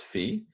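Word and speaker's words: φ: fee so that that symbol there it is pronounced fee it's and it can be written it can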